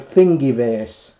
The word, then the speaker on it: Thingiverse: Now, just as a thing, there's a website called Thingiverse. And it's pronounced how it sounds, Thingy, T-H-I-N-G-I, Verse.